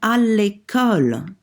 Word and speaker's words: à l'école: And for à l'école, école happens to be feminine, but even if it were masculine, we would have to say à, L apostrophe, because it begins with a vowel.